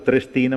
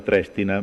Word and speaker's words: Trestina: allungare la striscia allora noi abbiamo sempre chiamato trestina ma si chiama trestina prenderti colleghi ieri però troppo mettetevi un accento no purtroppo anche noi